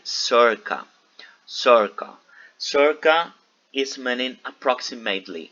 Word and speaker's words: circa: The C that you can see on your book before the numbers, it is pronounced like circa.